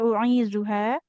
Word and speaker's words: أعيذها: Boleh diulang Ibu dari wa ini u'izuha. Huruf zalnya hati-hati ya, jangan seperti da. Duha. Ya. Zu.